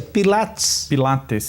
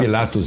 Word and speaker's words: Pilates: Pilates? Pilates. Não é Pilatos não, hein? Não tem nada a ver com Pôncio Pilatos. Né? Não. É Pilates.